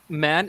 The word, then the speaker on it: man: an it's an AE so the sound actually lies between the ah sound and the a sound so it's ah ah man man man so it's man what's that man so it's man man you see it's it's a lot closer to the the plural form men than that the way